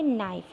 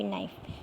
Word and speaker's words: NiFe: तो जो हम इसको प्रोनाउंस करेंगे नाइफ, NIFE, क्या करेंगे, NIFE, नाइफ, ठीक है।